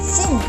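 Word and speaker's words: س: Sin itu kecil atau tipis. Maksudnya bagaimana? Kita membacanya sin.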